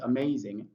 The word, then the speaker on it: amazing: You notice the raised vertical line is placed before may. And you know that may has three syllables. Amazing. So we have um a may zing amazing. So we have it there. The stress on the may that's what it means.